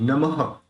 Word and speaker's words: नमः: नमो देखि य पर जो विसर्ग है उसका ह निकलेगा लेकिन वो ह इस तरह से क्लियर सुनाई देना चाहिए उसको क्लियर सुनाई देना चाहिए विसर्ग को नमः नमस्ते जगता पत लक्ष्मी